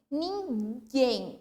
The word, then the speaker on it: ninguém: Então, assim, ninguém. Eu não leio ninguém, mesmo que tenha o acento agudo, tá? Eu leio ninguém e esse guem, obviamente, é a sílaba mais forte.